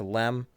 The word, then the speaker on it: LEM: Like like it was called the lunar excursion module, then they changed it, but it's still pronounced LM as if the E was still there for some reason.